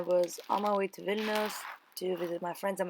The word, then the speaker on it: Vilnius: about to go to Vilnius oh my god I pronounced it so wrong villainous I don't know why like foreign people pronounce it the villain years and I started viewing